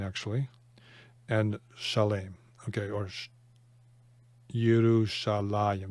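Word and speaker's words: ירושלים: And Shalem, okay, or Yerushalayim. This is written defectively. There's a yud that you pronounce that isn't written.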